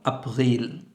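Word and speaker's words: April: তারপর আমাদের আসে এপ্রিল বানান দেখতে সেম কিন্তু উচ্চারণ ভিন্ন আফিল আপল এরপর মে যেটাকে আমরা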